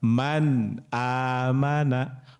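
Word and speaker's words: مَنْ آمَنَ: Man amana. Man amana. Enggak boleh man amana atau man aman. Itu enggak boleh tuh. Kalau itu nanti idgam digunahkan. Jadi tawas pertengahan ya.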